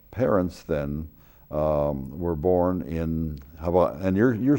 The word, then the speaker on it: Hawaii: It's Hawaii because in Hawaiian language, there's no V in it. There's no, that's right. The that's Hawaii. H-A-W-A-I-R, the W is pronounced as V, Hawaii.